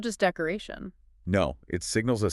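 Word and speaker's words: neu: Hoyt, meaning today, pronounced hoyte, or new, meaning new, is noi.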